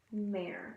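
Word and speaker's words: Mehr: Mare. That's how you spell it. Oh, you're not gonna be able to. M-E-H-R. Mare.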